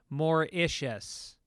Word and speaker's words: Mauritius: Just wanted to say that Mauritius is pronounced Mauritius.